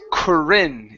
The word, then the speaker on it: Corinne: okay good good and this name here is Corinne it's a first name of a woman okay it's corinne try that one okay there you go much better okay watch the tongue so we're gonna say Corinne held up the baseball Corran held up the